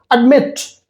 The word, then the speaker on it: admit: And the same cases, same way we will do with other verbs like admit. Admit. So the stress is on mit.